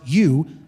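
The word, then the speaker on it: εὐ: you uh Epsilon Upsilon Epsilon Upsilon in Greek pronounced you is the adjective meaning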